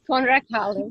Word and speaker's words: Konrad Calder: Hi everyone, it's Annemiek from the Academy for Soul-Based Coaching, and I'm here with Konrad Calder. Is that how I pronounce it? Yes, Konrad Calder, perfect.